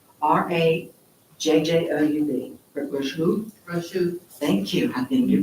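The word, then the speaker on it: Rajjoub: Rochou.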